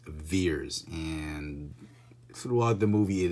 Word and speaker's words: Vers: she is verse fears v ER s pronounced fears and throughout the movie